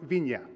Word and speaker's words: Viña: pronounce that name, because you will see a fancy N which is pronounced Viña.